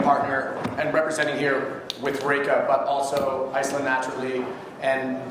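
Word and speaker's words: Reyka: You pronounce it Reka.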